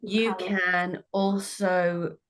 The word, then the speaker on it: Michalowicz: His name is Mike Michalowicz. That's how you say it, Mike Michalowicz.